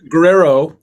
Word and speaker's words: Guerrero: But it looks like Guerrero, but it's pronounced right. Guerrero. Is that right? It's Guerrero.